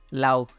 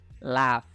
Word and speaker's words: laugh: Aku masih sering dengar nih orang-orang bilangnya itu laugh. Tapi cara pengucapannya nggak gitu ya. Cara pengucapan yang benar itu laugh. Jadi kita nyebutnya itu kayak L, A, sama F gitu.